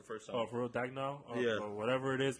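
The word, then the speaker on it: Daigneault: I actually don't know how to pronounce his last name. I'm so sorry, but Mark Dagnall. I'm so sorry, but Mark Dagnall, you got it right.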